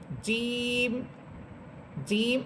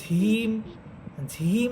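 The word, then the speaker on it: ج: অনেকেই জিম হরফটাকে বাতাস ছেড়ে দিয়ে ঝিম ঝিম বলেন, অর্থাৎ বর্গীয় জয়ের সাথে হয়ের উচ্চারণ হবে না।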